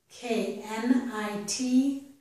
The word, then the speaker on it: knit: K-I-T and K-N-I-T are the same except for the letter N.